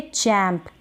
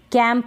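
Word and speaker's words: champ: चैम्प, इसको पढ़ेंगे चैम्प, कैंप ना पढ़ें, इसको कैंप ना पढ़ें, कैंप की स्पेलिंग होगी एच नहीं होगा उसमें, ठीक है।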